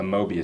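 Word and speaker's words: Möbius: which is the um the Mobius strip or the the media strip depending on one's pronunciation uh the 19th century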